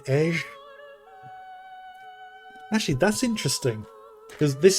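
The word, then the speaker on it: Edge: So that's why in the Japanese they pronounce it edgy. But for the Panzerese language, at the very beginning of the game, it's pronounced Ej, which I actually like.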